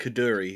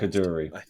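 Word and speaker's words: Coduri: k as Jackie Tyler I think caduri is how it's pronounced cadri okay caduri CI well ivall as Jackie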